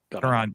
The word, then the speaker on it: Caron: Caron.